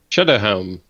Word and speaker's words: Sceaduhel: Shadowhelm. Shadowhelm. But, it's not spelled at all like that.